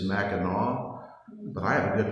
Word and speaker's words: Mackinac: to pronounce it and the correct pronunciation is Mackinaw but I have a